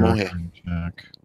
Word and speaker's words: Damojh: Demoje. It's pronounced like an H.